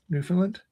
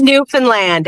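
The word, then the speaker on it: Newfoundland: Do you have internet in uh New Finland? Just kind of It's pronounced Newfanland, Adam.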